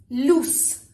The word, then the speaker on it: loose: It's lose z and loose, loose. Could you hear the difference? Lose, loose.